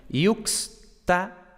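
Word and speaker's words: iuxta: Entonces, por ejemplo, tenemos yuxta, por cierto que la X, lógicamente, representa el sonido KS, bueno, los sonidos KS, ¿no? Por tanto, tenemos yux, dos sonidos, KS, ta. Emptum, pues tenemos emptum, no tenemos emptum, ¿vale?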